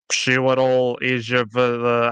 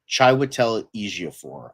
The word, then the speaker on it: Chiwetel Ejiofor: whether it's Karen Gillan, Chiwetel Ejiofor, I don't know how to say that name. Chiwetel Ejiofor, I believe is how you pronounce it.